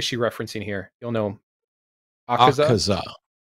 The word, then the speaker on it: Akaza: Akaza is how it would be pronounced.